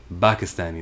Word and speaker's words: Pakistani: Pakistani, that's how you pronounce that word.